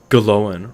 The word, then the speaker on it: Glóin: Glóin rhymes with loin.